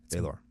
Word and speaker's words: Balor: Balor. That's how they say it when they read the audiobooks, baby.